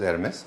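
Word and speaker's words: Hermès: एमएस का है ये डिज़ इसीलिए एच लिखा है व्हिच इज प्रोनाउंसेस एयरस।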